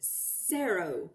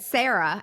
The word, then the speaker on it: Cerro: Cerro. It's Cerro, Spanish. S-E-R-O. Cerro. Well, I've got that. So in other words, you just said Sarah, S-A-R-A, and it's really, how do you spell it?